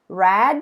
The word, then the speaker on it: read: the verb read okay the simple past and the participle we write the same way but the pronunciation is different okay read red red okay so in